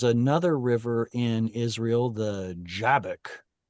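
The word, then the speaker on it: Jabbok: And and then there was another river in Israel, the Jabek. You know what I'm talking about, the Yavok. Uh it's usually spelled with J, but Y. Oh, sorry, Yabok. Like that.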